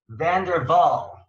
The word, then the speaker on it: van der Wal: here with supermodel frederick van der vaal right like saying it didn't dutch way van der waals okay vander waal like it's not w like like america right it's like a vlog well we say vanderwaal